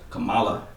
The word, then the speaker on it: Kamala: just got that new kamala harris am i pronouncing her name right kamala ah is that kamala don't disrespect okay i